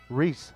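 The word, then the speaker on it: Rhys: First base from the Phillies, Reese Hoskins. And Reese is spelled R-H-Y-S.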